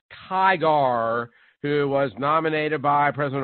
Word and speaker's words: Tigar: District Judge John Tigar, it's probably pronounced Tiger, but it's with an A, so I'll be phonetically correct. John S. Tigar, who was nominated by President Obama in 2012 to the U.S.